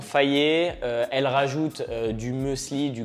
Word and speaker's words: Fage: I used to pronounce well fudge and a Alors c'est pas fage, c'est faillé.